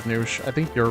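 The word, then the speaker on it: Nush: The way you pronounce my name, Nat, is Noosh. As if it had 2 O's. Yeah. Nice and easy. Even though it's spelled N-U-S-H, it means Noosh. Yeah, it's pronounced Noosh. Don't pronounce it like mush.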